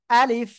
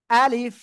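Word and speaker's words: ألف: করব কোন জায়গা থেকে মুখের খালি জায়গা থেকে আর শেষের দিকে এসে নিচের ঠোঁটের পেট এই সামনের উপরের দুই দাঁতের আগার সঙ্গে লাগিয়ে হালকা বাতাস বের হবে আলিফ আলিফ আলিফ ঠিক আছে ওকে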